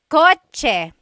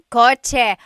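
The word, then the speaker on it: kotse: In the Tagalog alphabet, there is no letter C in Tagalog. Naturally occurring. The cha-ch sound is a ts combination. Coch car is coch with a ts spelling.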